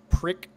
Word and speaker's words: PRC: I spoke into the model PRC radio, pronounced prick.